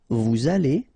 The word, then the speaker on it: vous allez: Then, vous allez. Remember, EZ at the end here will give you this E sound. Okay? Aller. And then, as previously, this little link between the two, liaison. Vous allez.